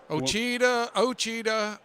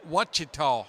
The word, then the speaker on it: Ouachita: What my deal is everybody that what I get the biggest kick out of is listening to people all over the country pronouncing it. Ouachita? Yeah. Ochita, Achita. Ouachita.